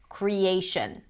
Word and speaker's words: creation: The cre is a secondary stress, because you can hear there is a pure vowel there. So it's going to be longish, but not as long as the A, create. And then the final syllable is reduced, a schwa, shin, creation, creation, right?